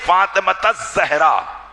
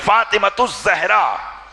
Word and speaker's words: فاطمۃ الزہرا: یہی نام صحیح ہے فاطمۃ الزہرا یا فاطمۃ الزہرا، فاطمۃ الزہرا نہیں بلکہ فاطمۃ الزہرا، یہ تلفظ آپ صحیح کریں تاکہ ان کی صحیح